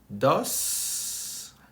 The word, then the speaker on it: dos: And then you say number 2 is dos. See how I pronounce the S? Dos. Number 3, tres.